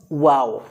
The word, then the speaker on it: و: 2 নম্বরে যে বিষয়টি বলবো সেটা হলো ওয়াও। ওয়াও মাখরাজটি এমনভাবে আমরা উচ্চারণ করব, মুখের এই যে আমাদের ঠোঁটের কিনারা আছে, কিনারা থেকে আমরা ওয়াও বর্ণটি উচ্চারণ করব, কোনো রকম কষ্ট ছাড়াই,